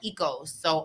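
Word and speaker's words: oikos: yogurt there's yogurt called Eco so o-i-k-o-s that's pronounced ecos that's where ecos family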